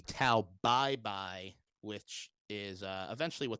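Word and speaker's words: Tao Pai Pai: flair to him and if you actually wanted to you know pronounce the uh pronounce this character's name in a more appropriate chinese way um it would be tau bye bye which is uh eventually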